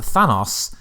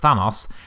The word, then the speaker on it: Thanos: tab was how does a fan us or Thanos although it actually pronounced Thanos Noah Tony Stark's name